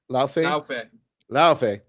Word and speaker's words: Laufey: God of War, is it Laufey or Luffy? Pronounce it for me. Laufey.